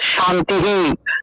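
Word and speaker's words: শান্তিঃ: লাইনের একদম শেষে আছে, সেক্ষেত্রে বাসু বা বাসু এই শব্দের পরে বিসর্গের পরিবর্তে হ উচ্চারণ হবে, কিন্তু আগের অক্ষরের সাথে, এই আগের অক্ষরের সাথে একটা রস্যইকার, বা এই যে আগের অক্ষরের সাথে একটা রস্যইকার থাকায় সেই আকার, সেই কার চিহ্নটা সেই হরের সাথে যুক্ত হয়ে যাবে। অর্থাৎ শান্তিহি বা সুহু সর্বেহে এইভাবে উচ্চারণ আসবে।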